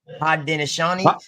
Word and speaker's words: Haudenosaunee: Hanudu, how you pronounce that one more time? Hanu, Haudenosaunee. Haudenosaunee signing Yep, of the treaty.